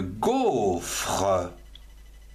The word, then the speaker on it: gaufre: Avec le son go, G-A-U, on a une gaufre.